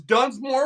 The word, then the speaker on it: Dunsmore: I mispronounced your name it's Dunmore it's Dunmore DS m o r e I'm getting a lot